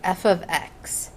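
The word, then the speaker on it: f(x): to represent their range or output we use f of x and it's not the same as f times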